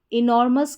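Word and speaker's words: enormous: Next है, last में OUS है, उसको अस पढ़ा जाता है, किसी भी स्पेलिंग में OUS आता है तो उसे अस पढ़ा जाता है।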